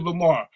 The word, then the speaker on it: Lamar: When they call you Lamar, they don't pronounce the last R. They be like Lamar. Lamar.